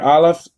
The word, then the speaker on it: aleph: The aleph is silent, so you don't pronounce it.